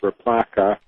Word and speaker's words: RPLACA: Well, there are a whole bunch of ways to do it, but this one is with the operator RPLACA, pronounced replaca, of the cooter of list.